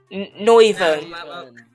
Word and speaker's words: Noivern: Well, how do you pronounce that? Noivern. That was perfect. That's... Good. That's accurate. That's 100% accurate.